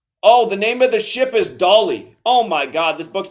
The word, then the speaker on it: Dali: Yeah, this Dolly thing. The ship's called Dolly, spelled the same, D-A-L-I.